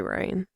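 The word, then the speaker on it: Rayne: town of rain oh I'm assuming that's how it's pronounced r a y n e yeah it's probably rain um you may not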